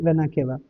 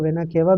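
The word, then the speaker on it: vena cava: When यानी कि inferior वेनाकेवा। ठीक? अब आप इसको वेनाकेवा भी बोल सकते हैं, वेनाकावा भी बोल सकते हैं। अलग-अलग प्रोनाउंसिएशन उसके हो सकते हैं और उसको बुरा नहीं लगता।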